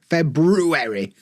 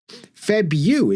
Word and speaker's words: February: Because nobody would say February. February. Febu. It's like a U sound. February. There's no reason for an R in the middle of that word.